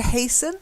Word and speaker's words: hasten: stuff the next one silent T to hasten hastened patient okay good and